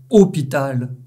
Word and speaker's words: hôpital: Le O avec l'accent circonflexe des mots hôpital et hôtel sera très fermé.